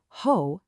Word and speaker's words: ὁ: But you've got to stick with me on this because the Greek word for the hoe, that's pronounced ho, is so much more than meets the eye.